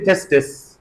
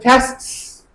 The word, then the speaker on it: tests: For example, instead of tests, some non-native speakers say testis, for example, testis, which is incorrect. So either tests, lists, or less, tests. Just make this T silent.